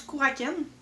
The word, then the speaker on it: Kraken: Ça se prononce Kouraken, si je me trompe pas toujours.